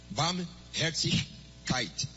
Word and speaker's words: Barmherzigkeit: Barmherzigkeit.